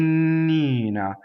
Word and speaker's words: Nina: is a good word now of course the word named Nina in this case is going to have a double end to start because of the word K as a strong mono solo it doubles the end but in the middle of the word the end is a single end right so I can't do